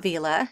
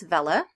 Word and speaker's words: Vela: the bulk editor that up until now I've pronounced wrong it's not Vela its Vela and they now allow